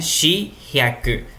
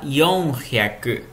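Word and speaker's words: 四百: 400, por exemplo, poderia ser, por exemplo, aquele 4, né? Shi-hyaku. Mas a gente fala yon-hyaku.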